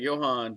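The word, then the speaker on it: Ioan: But he says it's pronounced Johan.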